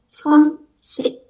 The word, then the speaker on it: français: Cuman berhenti di I, S terakhir nggak dibaca, jadi cuman français.